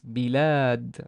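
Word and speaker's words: بلاد: There's a kasra on the ba, so it's bi. And this is what we learned about the convention of lam and alif, written like this. So it's bi. And by the way, this is lam alif, but we have no vowel on the lam, but there's an alif, so it's bilad, long vowel here.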